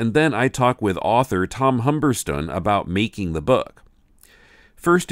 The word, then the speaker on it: Humberstone: Yeah, so this book is called Suzanne by, I'm guessing his name is pronounced Tom Humberston, British. It looks like Humberstone to us, you know, benighted Americans, but I think they pronounce it Humberston in the UK.